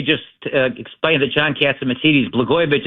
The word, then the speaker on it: Blagojevich: Before I do that, let me just explain that John Catsimatidis, Blagojevich isn't hard to say. It rhymes with Catsimatidis.